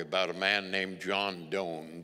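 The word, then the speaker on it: Donne: I remember reading a story about a man named John Doane, D-O-N-N-E, but they pronounced it Doane.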